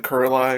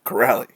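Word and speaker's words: Kuraly: and third charlie coyle's fifth shorthanded from sean corrally which i figured out that's how you pronounce crowley's last name i was saying curly or something like that before is corrally sorry about that all right so that's all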